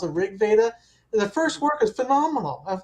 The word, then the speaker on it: RG Veda: People call it RG Veda, but I think it's pronounced Rig Veda.